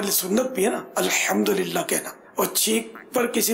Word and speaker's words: الحمدللہ: الحمدللہ یہ بھی تلفظ درست کرنا ہے، الحمدللہ.